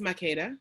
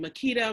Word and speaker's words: Makeda: important i mean so my name is makeda right and so i get makita marquisha market i get anything that